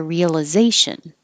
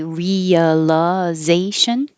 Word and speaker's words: realization: Work towards their realization. And you can say realization, realization, realization, or cut out the realization. Make it one syllable shorter. Both are fine.